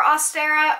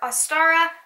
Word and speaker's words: Ostara: First off is Ostra, or Ostera, or Ostara. There's a lot of different pronunciations. When it comes to witchcraft, it's usually pretty forgivable if you have a different pronunciation.